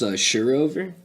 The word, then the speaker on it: Sjørøver: It's pronounced Sjørøver, Okay. which I forget what language it's in. Norwegian.